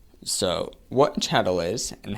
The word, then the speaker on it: chattel: whatever on the TV but it's not it's spelled c h a TT l so what a chadel is and how it